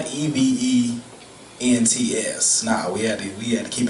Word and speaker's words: EVENTX: So it's EVENTX. That's so it's like Event Texas. You still say events, it's just spelled with the X at the end.